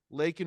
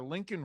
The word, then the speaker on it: Laken: The point is, though, the provocation did get Joe Biden to react and actually try to say Laken Riley's name. Of course, he butchered it and called her Lincoln Riley.